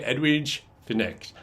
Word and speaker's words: Edwige Fenech: Now, I've heard it pronounced Finish. However, when I watch extras, all the folks that knew her always say Finish. So I'm going to say Edwige Fenech. That's what I'm rolling with.